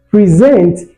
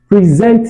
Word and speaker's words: present: Present it is what? A verb. Now, and in the usage of the verb, the stress moves to the where? The second syllable.